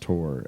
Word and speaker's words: Taur: coming up called tower t-a-u-r like minotaur minotaur maybe i assume it's pronounced tor actually because minotaur t-a-u-r and